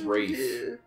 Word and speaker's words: Ralph: Ralph or Fiennes. Also, I think his name is maybe pronounced Rafe, even though it's spelled Ralph, because he's an idiot.